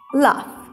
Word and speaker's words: laugh: skillful talented laugh laugh gh we're gonna pronounce it like f laugh clever hard walking take